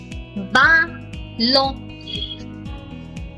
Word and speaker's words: ballon: Bay pour ballon. Ballon. Last letter is silent again.